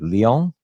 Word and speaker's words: Lyon: I think I'm pronouncing that right. Lyon?